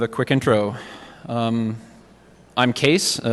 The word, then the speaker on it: Kees: quick intro um I'm case uh it's pronounced case the spelling is Dutch and it's my grandfather's